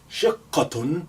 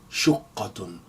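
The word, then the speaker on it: شقة: Shaqqatun, that's a flat. It can be pronounced also as shaqqatun or shuqqatun. Shuqqatun, shakkatun, shaqqatun, and shiqqatun. They're all correct.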